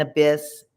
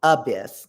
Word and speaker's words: abyss: And abyss, the accent is on the abyss, not on the abyss.